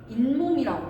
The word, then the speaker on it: 잇몸: 발음할 때 그래서 뭐라고 돼? 인몸이라고 발음돼. 이거 발음할 때 인몸이라고 발음되거든.